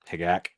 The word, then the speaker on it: HGAC: HGAC Ares. Hagak. That's the proper pronunciation.